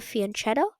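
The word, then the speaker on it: fianchetto: This is usually a big defect of the fianto and that is how you say it.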